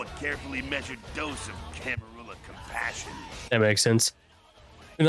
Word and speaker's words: Camarilla: Some people think it's pronounced Camarilla. If I'm correct, this game was officially endorsed by White Wolf, so it is probably canon to be called Camarilla. Kid, I never answered to no man in life.